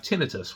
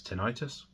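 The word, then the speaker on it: tinnitus: give you an example I have tinitus which I believe in North America we pronounce tinius um it's this constant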